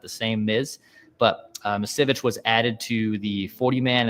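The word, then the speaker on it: Misiewicz: Roster move: Anthony Misevich, I believe is how I pronounce it. Misevich, the Miz is what Rock referred to as, not as the wrestler The Miz.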